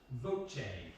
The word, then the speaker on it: Voce: Voce. VOCE. It's Italian. Everyone's pronounced it VOCE or VEC or whatever. It's Voce.